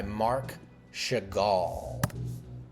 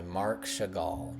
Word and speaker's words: Marc Chagall: So, this next painting that we're going to take a look at is called I and the Village by Marc Chagall. I'm pretty sure that's how you pronounce his name.